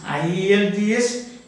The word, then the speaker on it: IELTS: What is IELTS can be pronounced as Ielts. Then it becomes an acronym.